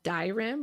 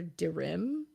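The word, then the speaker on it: Dyrim: there's another one called dioram or dirim d-y-r-i-m and it's a musical Bell wait how do you spell it again d-y-r-i-m I would pronounce it dirham yeah um this one's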